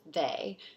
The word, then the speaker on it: they: So the word in this word sort that's the oddball is they. And it's an oddball because it's spelled with EY instead of AY, even though it's a long A vowel sound.